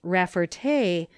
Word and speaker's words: Rafferty: French origin, and that the name should be pronounced Rafferty, with the accent on the last syllable.